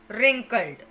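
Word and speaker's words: wrinkled: फिर राउंड लोंग Wavell रिंकल्ड इस में डब्लू साइलेंट होगा नोज लॉन्ग फ्लाइट ब्रॉड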